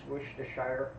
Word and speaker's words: Worcestershire: something different um yeah i've usually heard pronounces wish to shire but when there's there's